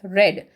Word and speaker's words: read: Read will pronounce it as read. As soon as she read the telegram, she fainted at once.